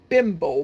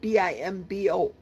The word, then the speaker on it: Bimbo: I think it's pronounced Bimbo, but it's spelled Bimbo.